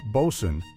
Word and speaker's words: boatswain: The boatswain, pronounced bosun, was the foreman of the deck crew.